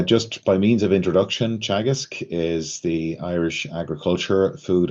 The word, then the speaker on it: Teagasc: um but uh just by means of introduction chagisk is the Irish agriculture food and development authority and it's pronounced chagas it's a an anaic word meaning teaching or